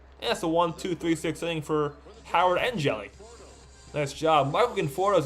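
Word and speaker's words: Hjelle: His full name is Sean Anthony Joey, pronounced Jelly, son of Mark and Sue Joey, born in Fridley, Minnesota.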